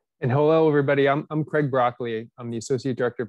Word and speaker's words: Broccoli: Broccoli, which is my last name. It's spelled exactly like the vegetable.